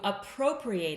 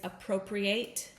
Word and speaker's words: appropriate: So, the pronunciation is different.